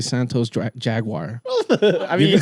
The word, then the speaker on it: Santos Jaguar: I was about to say Santos Jaguar.